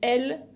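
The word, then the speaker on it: elles: Y para decir ellos y ellas, se dice il et elle, con S finales que no se pronuncian.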